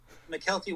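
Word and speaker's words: Mykelti: actor cameron poe befriends another inmate uh uh mckelty williamson michael t williamson yeah that's how you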